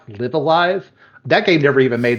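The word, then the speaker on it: Live A Live: I believe it's pronounced Live Alive.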